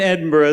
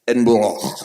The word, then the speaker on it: Edinburgh: They think possibly it came from Scotland, Edinburgh, and in Edinburgh there was a well. Wait, you didn't say that right. It's Edinburgh.